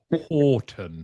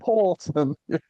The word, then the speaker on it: Houghton: last, I don't know how long, I sometimes mispronounce his surname. So I was practicing before we hit record. Horton. Horton.